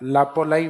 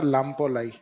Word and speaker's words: लाम्पोलाई: माना जाता है लापोलाई वैसे सही नाम है इसका लामपोलाई क्या लाई लाम्पोलाई तो यह कई बार इस आधे में मैं को साइलेंट करके भी लिख देते हैं। तो समझ जाओगे आप लापोलाई या लामपोलाई।